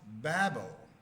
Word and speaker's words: Babel: The actual name is I don't read Hebrew which is pronounced Babel.